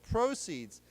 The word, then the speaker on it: proceeds: Okay, so the accent is on the first syllable, proceeds.